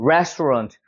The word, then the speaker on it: restaurant: restaurant. 여기가 센 거예요. 여긴 약한 거예요. 그러니까 restaurant가 되는 거죠. 런트가 아니라 runt. 약간 이런 느낌으로 restaurant. 힘을 빼면 돼요.